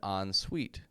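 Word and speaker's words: en suite: Whenever you move to a new apartment or wherever you go, you may see in the description it has an on suite.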